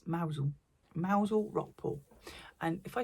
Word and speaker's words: Mousehole: If you're not from the UK, Mousel is mousehole down in Cornwall, but you don't pronounce it mousehole, it's Mousel.